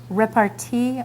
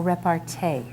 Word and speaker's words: repartee: This word has two pronunciations, repartee or repartee, a quick and witty reply.